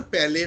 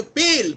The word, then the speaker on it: pale: okay very good তাহলে aunt প্রথম কথাটা হচ্ছে প্যালে নয় কথাটা উচ্চারণটা হচ্ছে পেল PALE দাঁড়া রুদ্রজিতের আবার